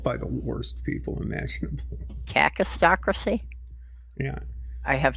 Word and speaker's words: kakistocracy: Cacistocracy? Yeah. I have not heard that term before. What exactly does that mean? It is, in fact, a term. It's spelled Kakistocracy, and it's pronounced cacistocracy, and it means, literally,